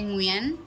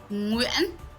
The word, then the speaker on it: Nguyen: And to be honest, the southern way is a little bit easier to pronounce, So like you can say Nguyen. Nguyen.